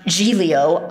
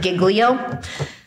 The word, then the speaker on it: Giglio: it's the brady and i've heard it now pronounced g-leo i being from not where other people are from pronounce it giglio um but if whether